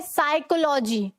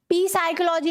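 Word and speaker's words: psychology: साइकोलॉजी, ठीक है, साइकोलॉजी, पी साइकोलॉजी नहीं होता, ऐसे बोलते हैं ना कितना बड़ा साइको है, ठीक है, तो उस स्पेलिंग में भी ये जो पी है वो साइलेंट होगा, एस से पहले वाला पी भी साइलेंट होता है।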